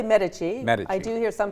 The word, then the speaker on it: Medici: Yeah, pronounce the name again for me. Well, I say Medici. Medici. I do hear some people say Medici.